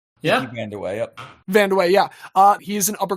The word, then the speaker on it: Kiki Vandeweghe: Am I pronouncing that correctly? Yeah. Kiki Vandeweghe, yep.